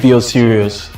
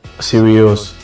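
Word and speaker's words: Sirius: dog star it's called serious so that's why I so how do you spell that s i r i u s serious yes S I thought it was like serious okay like some serious no no no no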